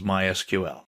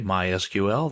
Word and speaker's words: MySQL: So, what is MySQL? Well, it's a version of SQL. We'll talk about that in a minute. People in the know don't say MySQL. They say MySQL. That's generally how it's pronounced.